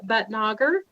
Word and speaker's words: Bhatnagar: How do you say your name again? It's Bhatnagar. Youth Legislator Bhatnagar.